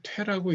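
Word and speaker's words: 推: 이건 추라고 있지 않고 퇴라고 읽습니다. 퇴.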